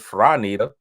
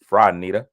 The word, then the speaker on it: Franita: Also, here's Franita. Rhymes with Carlita. Franita.